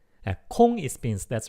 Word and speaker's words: 콩: Oh, by the way, 공 and 콩, 공, 콩, 콩. You have to hear the difference between these two. 콩, 콩, but 콩, 콩. Okay. 공 and 콩. The pronunciation 공, 콩, 콩. More aspirated sound.